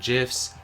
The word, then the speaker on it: GIF: silly internet memes and gifs. I just want to be able to make him smile too. First lesson, it's pronounced memes and gif with a hard G.